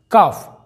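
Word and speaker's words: calf: हाफ यहां पर भी एफ के पहले एल साइलेंट है हाफ का मतलब होता है आधा काफ काफ का मतलब होता है दोस्तों बछड़ा गाय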